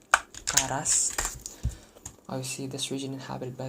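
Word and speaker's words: ǁKaras: This obviously represents the clicking sound that you make when you say it. So it's actually supposed to be pronounced something like Karas.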